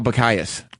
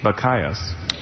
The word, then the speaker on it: Bacchius: A Bacchius is a metrical foot of 3 syllables, the first short, the other 2 long. So it's da-dum-dum. Da-dum-dum is a Bacchius. Bacchius.